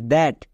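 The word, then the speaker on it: that: এর পরে আই আছে কিন্তু টি এইচ এর জন্য দোয়া হচ্ছে কেন কারণ এখানকার প্রত্যেকটি ওয়ার্ড ব্যতিক্রম এরা রুলস ফলো করে না যেমন দেখো টি এইচ আই S this T এইচ এ টি দ্যাট টি এইচ ই এন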